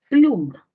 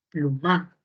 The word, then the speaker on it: pluma: Si yo muevo la sílaba tónica, ¿cómo sería? Ah, pues ya no sería pluma, sino sería plumá, plumá, plumá. Suena raro, nunca lo hemos escuchado.